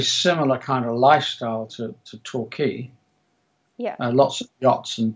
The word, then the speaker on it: Torquay: So you come from, how do you pronounce it? Torquay, England, right?